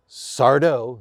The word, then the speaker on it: Sardo: dumont and he plays sardo no mister accent on the dough this is the sardo's